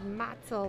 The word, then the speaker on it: Motzel: Before the game, I was checking how to pronounce names, and she said Motzel, like mozzarella.